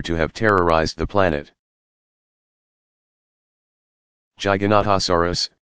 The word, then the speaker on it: Giganotosaurus: have terrorized the planet Giganotosaurus pronounced GG a notice or us was slightly longer at